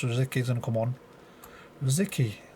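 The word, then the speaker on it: Rosický: Rosicky. I'm sure that's how you say his name. It's like, I've heard people say Rosicki, Rosicki. My Arsenal friend Shide used to call him Rosikiki, I think, at some point.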